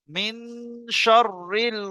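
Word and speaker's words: مِن شَرِّ: আছে একটু কেটে কেটে পড়লে বুঝতে পারবেন দেখেন মিনশরিল সবাই পড়েন সবাই বলেন উচ্চারণটা প্র্যাকটিস করে নেন মিনশল ওসলখান আচ্ছা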